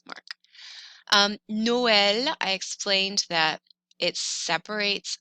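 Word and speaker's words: Noël: apart so normally oe together in french is pronounced uh so this word would be but we know this word means christmas noel i'm going to split it separates two sounds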